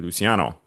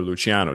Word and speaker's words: Luciano: a brief history on Lucky Luciano or Luchiano, depending on how you want to say his name.